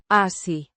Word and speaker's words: así: Pronounced. Así. The Se. sounds like the S in sun.